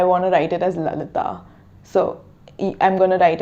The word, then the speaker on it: Lalitha: So that's why my name is spelled like Lalitha, but it's actually pronounced as Lalitha. It's not Lalitha. So when I tell someone that it's Lalitha, like because the H is silent basically, and I understand when